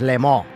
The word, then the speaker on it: Le Mans: No, it like, Mike, it factually is silent, the N. The N is silent. It is the right way to say it, is Le Mans.